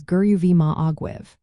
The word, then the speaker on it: go raibh maith agaibh: The pronunciation for both phrases is quite approachable, with go raibh maith agat sounding like gurruvi ma aguth and go raibh maith agaibh as gurruvi ma agwibh.